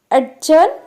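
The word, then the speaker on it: adjourn: ఎప్పుడు జే లెటర్కు ముందు కనుక డి వస్తే డి అనేది ప్రొనౌన్స్ చేయకూడదు. Examples అడ్జర్న్, అడ్జర్న్, ఎజెక్టివ్, ఎజాయిన్.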